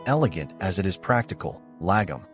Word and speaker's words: lagom: as it is practical lagum pronounced Lam it's a Swedish word